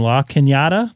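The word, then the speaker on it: La Cañada: Chino Hills is not too far away and La Kinyatta, that's how you pronounce that correctly, is up against the foothills um off the 210 up here in Southern California.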